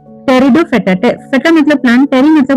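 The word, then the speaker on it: Pteridophyta: अब इसमें पी लिखा हुआ है। टेरिडोफेटा इसको क्यों बोल रहे हैं? पी यहां पे साइलेंट हो जाता है।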